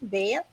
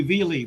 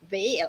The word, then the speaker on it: Vale: Vale. You did better than most. Most people call me Veale, but you got it 100% right. All right, Vale.